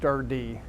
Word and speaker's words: DRD: Some people say Dr. it stands for, but the way you pronounce it is DRD.